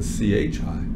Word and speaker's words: Qi: to call it Qi or and and we pronounce it a CH I Gigi and so if our Chi we want